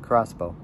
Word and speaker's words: X-Bow: it so the KTM crossbow the KTM Expo which is pronounced crossbow is an ultralight sports